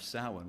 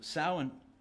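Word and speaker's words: Samhain: traditions this is the time of sin which is spelled s a m ha a i n that's an anathema to those of us like me who the child of two English teachers so sin marks the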